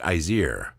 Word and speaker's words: Ice-Year: Yes, Ice-Year Neighborhood Partners. It's the name of their association. I think it's supposed to be pronounced Izier.